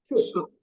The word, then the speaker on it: should: Sama, kalau kita mau menyebutkan could, would, should, itu L-nya nggak perlu dibaca. Jadi, could, would, should.